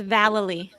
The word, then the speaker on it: Vallely: it rhymes with Galilee, so it's Vallely.